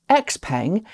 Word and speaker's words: Xpeng: sticking with chinese brands x-peng and yes that is the official western pronunciation of the company's name xiaopeng has just loaded